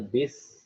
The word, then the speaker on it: bus: jelas ini adalah Bos atas tulisannya bus bacanya bis Indonesianya ya Bos merupakan